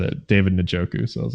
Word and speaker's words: Njoku: I thought it was Njoku, but it's Njoku. Whatever.